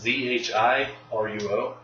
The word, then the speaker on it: Zhiruo: It's the second name is Zhiruo, like two parts. Okay. Chunjiro. Yeah, I think that's probably not. Probably not. ZH is a weird pronunciation in Chinese.